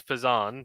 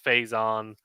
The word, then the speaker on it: Fazan: how do you mispronounce so my name is fazan but a lot of people say Faison uh on farzan um yeah there's lots of different ways that people mispronounce it but it's all good